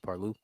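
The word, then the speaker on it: Parlux: paru p a r l uux but it's pronounced paru but they was in um over endorsement deal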